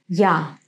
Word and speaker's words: я: pronounce it я я It's like The beginning of the English Word Y Now in the Word